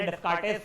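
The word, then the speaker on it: Descartes: Rate वो I think so उसका S silent है बट अपने को स्पेलिंग लिखने को नहीं आता है। यह एमसीक्यू में पूछा गया है कईयों बार। तो याद रखना है क्या है बंदा? रेने डिस्कार्टेस्ट बोलो।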